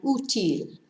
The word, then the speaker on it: útil: Útil. The accent tells us to stress the first syllable rather than the last syllable, even though it ends in a consonant.